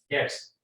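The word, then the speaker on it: debts: डेट्स, DEBT इसमें भी silent है, बैड डेट्स होते हैं, ठीक है।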